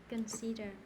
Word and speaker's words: consider: consider consider consider okay stress on the second one consider consider i consider what can